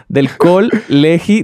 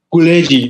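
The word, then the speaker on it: Col·legi: Colegi, no existe. Colegi. Colegi, colegi. En catalán, las O's que no son, que no se pronuncian fuerte, las O's átonas, se pronuncian U, y la G aquí,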